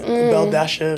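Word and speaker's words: Belle-A: Her name is Bella, but Belle Dasha, because her name is spelled Belle Dash A. With a dash and an A. So Belle Dasha.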